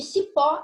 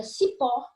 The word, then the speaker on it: cipó: Temos um outro exemplo aqui de cipó e de raiz. Só que nessa situação não existe vogal temática. Cipó é uma palavra oxítona, ou seja, é a última sílaba, que é a sílaba mais forte.